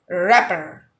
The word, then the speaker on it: wrapper: last one is rapper wrapper wrapper wrapper rapper in this word the let for the first letter w is not pronounced and it's silent so it will be